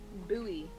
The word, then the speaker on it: buoy: one on one firefighter did you buoy i forgot that's how americans say that yeah did i just